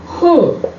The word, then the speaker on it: हूँ: playing birds are chirping the last one is whom pronounced like this which means am when do you